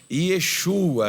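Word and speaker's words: ישוע: Não é Exu, não. Exu é outra coisa. Exu é demônio. Yeshua, repita comigo, Yeshua. Isso, porque no hebraico não tem a letra J.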